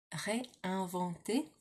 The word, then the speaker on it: réinventer: Réinventer. Just like in English, but with an accent over the first E, and then with an ER at the end, because there's lots of ER verbs in French.